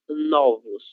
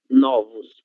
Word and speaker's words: novos: Por exemplo, a palavra novo no singular, a letra O ela é fechada, novo. Agora, no plural, será novos, novos. A letra O ela se torna aberta.